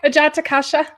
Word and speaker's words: Ajatakasha: Ajatakasha, how do you say it, Lisa? That's right, Ajatakasha.